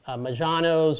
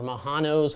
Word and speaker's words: Majanos: anemones like Aptasia and Majanos or Mahanos, however you want to pronounce it.